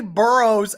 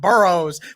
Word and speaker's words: Burrow: or you're gonna say burrows at least say his name right its burrow not burrows this is amazing this